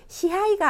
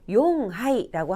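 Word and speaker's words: 四杯: 넉자는 용하이. 시하이가 아니고 용하이라고 합니다.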